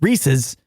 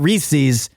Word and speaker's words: Reese's: said it wrong Reese's it's Reese's not Reese's uh we also heard